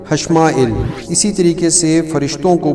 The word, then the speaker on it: حشمائیل: آئے گا ششمائیل حشمائیل۔ اصل میں جو تلفظ ہے فرشتے کو پکارنے کا وہ ہم تو جیسے ایل بولتے ہیں، الف پھر حمزہ پھر یہ پھر لام، لیکن جو اس کا اصل تلفظ ہے پکارنے کا وہ بنتا ہے حمزہ کے نیچے زیر اور پھر لام، تو یہ بنے گا ششمائیل حشمائیل۔ اسی طریقے سے فرشتوں